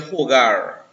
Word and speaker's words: hogar: No, so say for instance, you say, right, so say for instance, this is something en el hogar. Now the H is silent in Spanish. H-O-G-A-R is the home, right?